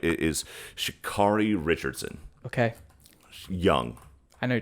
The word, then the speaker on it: Sha'Carri Richardson: And I want to make sure that I pronounce her name right. It is Sha'Carri Richardson.